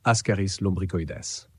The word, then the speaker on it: Ascaris lumbricoides: Elle est causée par un ver rond appelé Ascaris lumbricoides, que l'on prononce Ascaris lumbricoides.